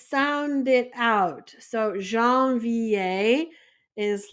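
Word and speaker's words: janvier: in French so that way it helps you pronounce them so with that let's go ahead and start so first off we have Jean VI Jean VI is January so I'm going to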